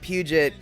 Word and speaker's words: Puget: absolutely absolutely and oh he was English not French I just figured with the name like Puget it was you know I mean he would have pronounced it pug of course but I just figured it was French and can I go